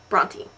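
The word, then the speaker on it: Brontë: not an um out it is a diasis and it just means that you should pronounce the E Bronte which leads me to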